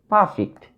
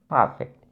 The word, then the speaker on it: perfect: Perfect. In the word perfect, we find two syllables here. One is pa and the other is fact. Perfect. Perfect. Okay, so we should stress on the first syllable, perfect.